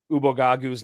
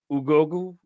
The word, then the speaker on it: Ubogagu: doing with pronunciations, but I have not heard Ubogagu's name said correctly. Not even once. Broadcast. Not even once. This last game was the worst. The commentator kept saying Ugogu or Gogu.